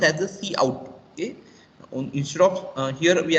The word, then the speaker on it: cout: So the it is pronounced as a cout.